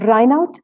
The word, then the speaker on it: Reinout: Reinout, जैसे उनकी actually pronunciation है।